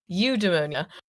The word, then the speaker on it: eudaimonia: I'm not trying to say like you must feel eudaimonia from that job, right? But not pneumonia, eudaimonia.